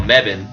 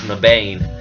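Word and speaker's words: Mebane: in this town called meban which should be pronounced in the bane this should be played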